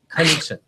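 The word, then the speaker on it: Knutsson: Hey, is that a silent K on the or a hard K on your last name? If you think of a sneeze, that's the best pronunciation. So Knudsen, God bless you.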